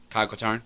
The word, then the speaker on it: Kyle Katarn: How do you pronounce his name? Kyle Katarn?